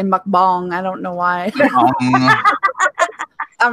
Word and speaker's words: mukbang: We would so do that true crime mukbang. How do you say it? Mukbang. Mukbang. I call it mukbang. That's probably that's my North Carolina way of saying it.